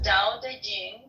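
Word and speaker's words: Te Ching: is his best reward da Ching pronounced more or less da Jing can be translated as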